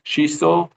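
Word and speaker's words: Schichtl: Shistol. Last name is spelled S C H I C H TL.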